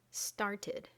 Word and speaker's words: started: And it can be pronounced id, as in started.